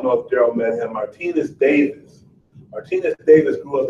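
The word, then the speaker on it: Martinus: He said, well, it's spelled M-A-R-T-I-N-U-S, Martinez.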